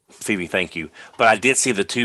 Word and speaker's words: Phoebe: I've not seen Afterlife, so I don't know how to pronounce the name. Phoebe, thank you.